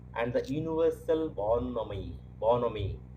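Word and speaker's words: bonhomie: the universal ball nominee bonomi here h is silent and in the others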